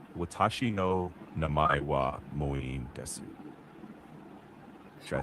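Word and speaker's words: 名前: Next, namae Namai means name.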